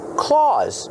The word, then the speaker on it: claws: Claws. Use the A sound like Santa Claus. That's right. They sound the same. Claws like Santa Claus and dogs have claws.